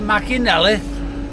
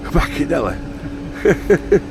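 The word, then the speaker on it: Machynlleth: He's I was he was hitching and I I pulled up and he said, "Can you tell me the way to Mackinelith?" Machinelli.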